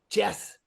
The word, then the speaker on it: chess: like Shoots and Ladders Jess it's called Jess oh chess chess yeah I said I said it wrong chess yeah no you